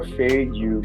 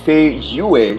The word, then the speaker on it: Feiyue: be a link for F you shoes oh pardon me I'm i' I've been mispronouncing that word for the longest time right if you need Fay UA shoes go ahead and